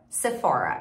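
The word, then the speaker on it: Sephora: nos comentários para mim em inglês é se for é parecido você for Maybelline é um outro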